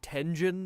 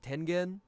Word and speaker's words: Tengen: He pronounced it Tenjin instead of Tengen.